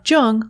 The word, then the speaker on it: Jung: alexa play speaking of jung on apple podcasts just be sure to pronounce jung with a hard j you can also stream